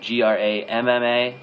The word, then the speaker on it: grandma: that we say it we don't actually pronounce the n d uh we we wouldn't say grandma or Grandpa it's just Grandma and Grandpa like G MMA and gr MPA Grandma and Grandpa uh